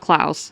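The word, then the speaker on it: Klaus: But it's called Clouse. So it's spelled K L A U S.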